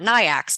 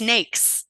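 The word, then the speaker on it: NAICS: government contract has a NES code assigned to it that is a North American industry classification system code NES and it rhymes with the word snakes and if you say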